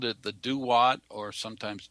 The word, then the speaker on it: Duat: the egyptians uh the egyptians called it the duat or sometimes two odd it's spelled d-u-a-t and um the hopi have a